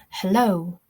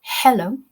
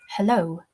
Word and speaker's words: hello: So we now know that the second syllable is stressed. It's hello. It's not hello, it's hello.